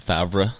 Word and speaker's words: Favre: 20 years all right his last name is spelled different than how everyone says that favre yeah yeah is that